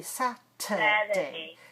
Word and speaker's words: Saturday: We don't say Saturday. Saturday. Saturday. It's weak.